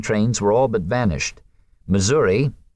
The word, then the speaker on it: Missouri: were all but vanished Missouri mura as one was supposed to pronounce it was no longer the